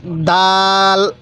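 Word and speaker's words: دال: এরকম ভাবে উচ্চারণ করব এরপরে দাল দাল এই দালটাও আমরা শক্তভাবে উচ্চারণ করব দাল এরপরে জাল জাল এই জালটা নরম করে উচ্চারণ করব অবশ্যই জালটা আমরা নরম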